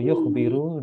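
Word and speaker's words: يُخْبِرُ: Jadi kalau yukhbiru dia mengabarkan. Kalau yukhbaru dia dikabarkan. Oh, yukhbaru. Maknanya jauh kan? Iya. Dia mengabarkan atau dia yang dikabarkan. Iya. Hanya gara-gara spell itu mbaknya kasrah sama fathah.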